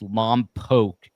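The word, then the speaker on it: Lompoc: She goes missing from I'm told it's pronounced Lomb Poke, California.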